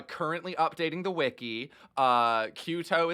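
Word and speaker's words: QTO: updating the wiki uh kyuto is spelled q-t-o very simple um uh so cute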